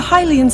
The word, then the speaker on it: Hylian: Yes, I got the look like Hylians. Pronunciation correct.